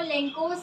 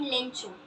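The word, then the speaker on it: Lencho: So first question is which crop was growing on लेंकोस field, कौन सी crop. सबसे पहले मैं ये बता दूं कि लेंको एंड लेंचो ये दोनों ही बोल सकते हैं, हम प्रोनाउंस कर सकते हैं।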